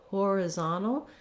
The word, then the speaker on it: horizontal: word we have secondary stress on the first syllable so horizontal now we no longer have that schwa on